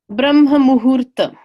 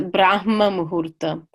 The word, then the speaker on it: Brahma muhurta: yeah then there's um Brahma muhurtham some people pronounce a brahma muhurta I've seen both in the dictionaries before this class I